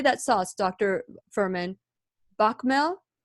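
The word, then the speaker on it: béchamel: Bakmel? Bechamel?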